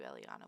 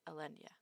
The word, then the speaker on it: Elenia: for me yeah sure i don't know why i keep calling you eliana when it's elenia yeah i i had